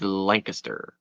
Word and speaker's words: Lancaster: And even though it looks like Lancaster, and a lot of people say Lancaster, the proper Pennsylvania pronunciation is Lancaster.